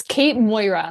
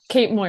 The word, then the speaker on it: Cait Moira: Okay, so how is it actually pronounced? So I I screw it up. You were so close. It's Kate Moira. Like Moira Rose on Shitz Creek. Moira Rose. Okay. Yeah. Kate Moira.